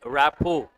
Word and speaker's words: rapport: The letter T is silent. R is also silent. Then what do you say? Rapport.